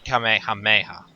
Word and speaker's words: Kamehameha: We brought up how do you pronounce the name? Is it Kamehameha or Kamehameha? And it is indeed Kamehameha.